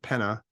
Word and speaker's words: Pena: a guy Dan Pena p-e-n-a I believe that's how you pronounce it Penna uh he I saw